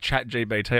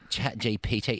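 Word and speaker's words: ChatGPT: time ever yeah yeah it's like chat gbt I can't say that properly it's ch GPT chat GPT it doesn't really roll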